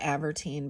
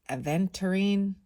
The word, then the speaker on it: aventurine: that wrong or right I always call it atine but it's aventurine Trine makes me look